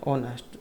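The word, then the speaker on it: honest: जो उसमें से है, तो एच क्या यहाँ पर साइलेंट है, और जब साइलेंट होता है तो फिर वहाँ पर एन का प्रयोग होता है, ऑनेस्ट जो इसको बोला जाएगा, एन होर, एन हेयर,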